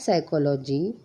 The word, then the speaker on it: psychology: Write P because P is silent.